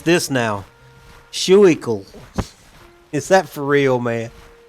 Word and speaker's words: Schuylkill: Oh, let me pronounce this now. Schuylkill. Is that for real, man? Are you trolling me? Is that a real name of a river? Schuylkill.